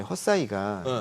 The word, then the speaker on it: Hesai: 요게 이제 헛사이가 이제 글로벌 라이다 쪽에서 1위거든요. 시장 점유율이. 헛사이라고 발음해야 네, 돼요? 헛사이, HESAI. 네.